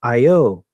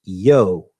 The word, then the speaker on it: io: december 17th the interjection io is pronounced either with two syllables i o or a single syllable with the eye becoming and pronounce yo j-o or yo these